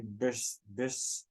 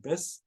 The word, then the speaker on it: Bysshe: He loved Percy Bysshe. How do you say it? Bysshe?